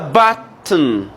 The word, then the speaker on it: button: It's a button. Can we say button? The O is silent.